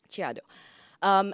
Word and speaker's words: Chiado: work that's on display at this bookstore in Chiado gru that's how you say it Chiado and this project is called undelivered mail and